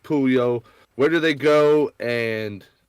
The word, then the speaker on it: Puyol: The project is pronounced Pooh-Yole.